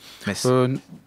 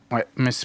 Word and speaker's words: Metz: Metz. Metz, pardon. Jean-Michel, correcteur d'orthographe de prononciation Metz.